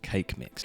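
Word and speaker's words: Kaqemeex: Then go talk to this old guy whose name, I'm told, is pronounced cake mix.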